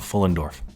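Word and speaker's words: Pfullendorf: border at the town called full endorphin start to the P but the P is silent oh you Germans and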